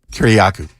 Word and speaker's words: Kiriakou: Kiriakou.